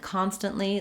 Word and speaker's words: constantly: So this word constant and constantly, they're both stressed on the first syllable con.